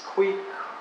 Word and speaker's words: kwik: heard them before, and the sound at the end is a KW and it's kweek.